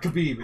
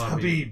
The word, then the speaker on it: Khabib: It's not Khabib, it's Habib. Habib, yeah. Is it Habib? Habib. Ah. I watched a YouTube video, and it was him telling people how to pronounce his name.